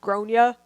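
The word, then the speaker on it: Gráinne: Do you think she was wrong for telling her in front of her kid that her name was pronounced Gronya?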